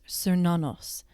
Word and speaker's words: Cernunnos: This is pronounced Cernunnos.